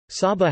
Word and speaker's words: Saba: Saba, Dutch pronunciation, Sa-ba, is a Caribbean island which is the smallest special municipality officially public body of the Netherlands.